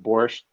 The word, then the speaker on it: borscht: grew up on this stuff it's called it's pronounced borscht and there's there's two different ones so there's